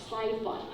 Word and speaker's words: sci-fi: So pay attention to the pronunciation. It's pronounced sci-fi. But here is science fiction. Okay, so the pronunciation of I is different.